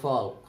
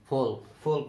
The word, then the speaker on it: folk: ফোক শব্দের অর্থ হলো লোক, অনেকে ছেলেরা বলে ফল্ক, ফোক না, এলটা অনুচ্ছেদ থাকবে।